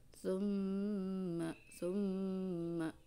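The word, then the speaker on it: ثم: Tapi di sini ada kaidah atau ada hukum namanya gunnah. Cara pembacanya itu adalah ditahan di hidung ya, tekanan ditahan di hidung, dua ketukan, summa seperti itu ya.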